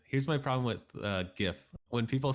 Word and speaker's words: GIF: here's a good one it's pronounced jiff no it's incorrect no bad that that is peanut butter here's my problem with here's my problem with uh gif when people say it